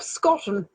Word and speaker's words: Scotton: So, we have Russell and the Lost Treasure by Rob Scotton. Rhymes with cotton and almost forgotten.